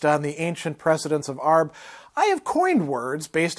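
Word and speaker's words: Arbre: giving us pronunciation hints arb is pronounced like arb with a little something on the end consult a french person for advice in a pinch arb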